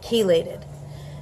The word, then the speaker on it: chelated: CH e la de d the CH is pronounced like a cake chelated so chelated magnesium is the most bioavailable and